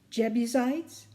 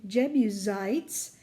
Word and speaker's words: Jebusites: Did you notice that in the S in Jebusites that it had a dot over it? That means that the S sounds like a Z instead of an S.